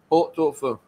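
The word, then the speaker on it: pot-au-feu: 波多夫。波多夫。 Yes. 波多夫。 Po means pot. So po in French we say pot. 即係 pot 啦，我哋 hot pot 個 pot 啦。Oh, it's two and fur is fire.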